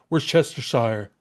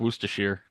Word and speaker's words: Worcestershire: Like there's that one person like, no, it's actually pronounced Worcestershire. Worcestershire. Actually, it's What? Worcestershire.